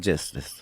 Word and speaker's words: Trismegistus: Trismegistus.